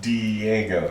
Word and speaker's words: Diego: it's Well, pronounced it's a Spanish word. Diego.